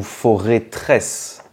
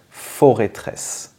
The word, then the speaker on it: Forêtresse: suivant alors celui-ci est-ce qu'on dit foress ou for tresse et bien on dit forêtresse voilà la forteresse de la forêt et en